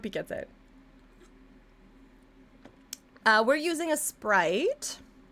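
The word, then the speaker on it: Aseprite: We're using a Sprite. It's spelled like, kind of like this up here.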